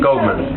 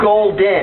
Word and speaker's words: Golden: Dirk Goldman. Golden. Golden. No, Golden. I've got to get that right. G-O-L-D-E-N. I gave you my card, man.